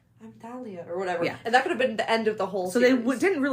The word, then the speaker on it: Thalia: Well, you're pronouncing it too well. Shoot. Okay, I got this. Thalia.